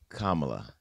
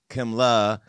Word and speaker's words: Kamala: It's Kamala, not Kamala, not Kimla. It's Kamala.